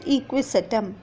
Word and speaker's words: Equisetum: top example salazinella equisetum check the pronunciation children salaji nella and equisetum and next coming to